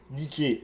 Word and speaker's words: Niké: Bref, on peut compter Bia, la force, Zélos, l'ardeur, Niké, la victoire. Au passage, c'est comme ça qu'on doit prononcer la marque de chaussures.